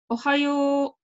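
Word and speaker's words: おはよう: Ohayo. So you can see that the first O is short and the second O is long.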